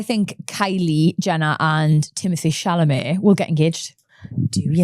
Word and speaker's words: Chalamet: this time last year, I did not know how to say Shalomé. Shalom. Do you know what I mean? All I saw was Timothy Calmott or something like that.